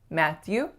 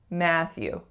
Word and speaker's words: Matthew: The most common mistakes that I hear for this one is that the syllables are a bit too even or that there is not enough tension on that first a sound. So it's not Matthew, it's Matthew.